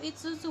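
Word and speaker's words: いつつ: Nah kalau yang nomor 5 itsu. Nah ini baru itsu karena su-nya gede.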